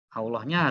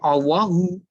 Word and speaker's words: Allahu: bacanya bener salatnya bener allohu akbar allohu harus di situ ya jangan allahmu kan orang Jawa Itu ow kadang-kadang belum belajar ilmu tajwid itu Allah ada tulisannya di blog Edi ini saya coba allohu allohu akbar bukan allahuakbar